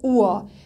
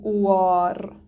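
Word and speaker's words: Uhr: نکته پایانی، اگه اغ پایان لغت بیاد واضح شنیده نمیشه، واضح تلفظ نمیشه، مثل اوا نمیگیم اوار، ره یا اغ رو ما تلفظ نمی کنیم.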